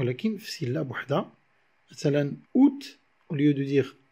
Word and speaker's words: août: contraire de la diurèse par exemple août le mois d'août qui se dit août au lieu de dire à août ah non on a deux voiliers qui se suivent le a et le 'oui' mais ils ne sont pas prononcés séparément on va dire août